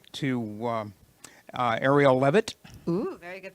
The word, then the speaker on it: Arielle Leavitt: And so I would like to, Arielle Leavitt. Ooh, very good pronunciation.